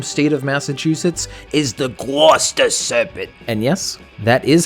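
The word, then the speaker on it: Gloucester: Another creature that's local to my home state of Massachusetts is the Guster Serpent. And yes, that is how it's pronounced.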